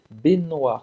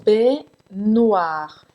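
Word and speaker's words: baignoire: é bem no ar benoar como se fosse eu entre longo bem no ar então cingi que esse g não existe tá benoar b no ar e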